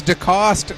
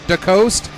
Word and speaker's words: DeCoste: a 50-50 chance, and it is DeCoste, not DeCoste.